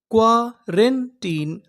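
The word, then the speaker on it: quarantine: क्या पढ़ेंगे टिन तो पूरी मीनिंग क्या बनी क्वारेंटीन क्वारेंटीन क्वारेंटीन क्वारेंटीन का मतलब होता है अस्पताल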